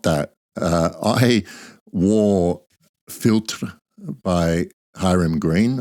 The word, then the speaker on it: Philtre: that uh I wore filter by hm green I think it's pronounced filter with the that French accent I should have maybe